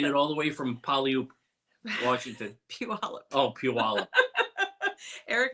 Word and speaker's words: Puyallup: Yeah, I heard someone say Puyallup. He just keeps saying Puyallup. So anyway, it's not. It's Puyallup. We do know the correct one, so don't yell at us.